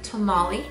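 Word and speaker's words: tomalley: pretty orange color that's called shrimp tamale not like the mexican tamale um but this is spelled differently and uh it is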